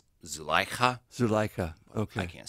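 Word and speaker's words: Zulaikha: It's pronounced Zukaila. It's actually closer to something like Zuleika.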